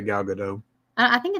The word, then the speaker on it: Gadot: But Gal Gadot, how do you say your name? Gal Gadot. Gal Gadot. Is it that direct, like literal? Gadot? Mm-hmm. Like you actually say the T at the end?